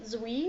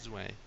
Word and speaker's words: Zwei: What do you guys, speaking of Resident Evil 4, what do you guys think of Zui? Is that how you pronounce it? Zwei.